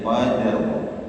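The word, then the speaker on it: قدر: Dal dan ro harus disukurkan duanya. Dan kita tidak jarang mendengar ya ee kalau put lagi safar atau bagaimana salat di berhenti itu ketika imam membacanya itu tidak disebutkan dua-duanya ya. inna anzalnahu fi lailatil qadr ya atau idza jaa nasrullahi wal fat ya ha-nya tidak terbaca ya rnya tidak terbaca ya padahal kalau itu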